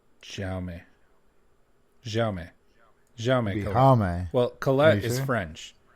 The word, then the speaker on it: Jaume: Jaime? Jaime. It's Jaume.